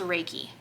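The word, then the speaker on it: Reiki: how you spell it I think it's pronounced raiki they work with energies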